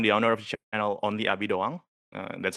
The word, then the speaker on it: OnlyAbiDoang: So, um, I'm the owner of the channel Only Abid Dawang. Uh, that's how you pronounce it.